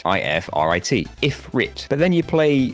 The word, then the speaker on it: Ifrit: So saying it phonetically, it looks like it says Ifrit. I-F-R-I-T.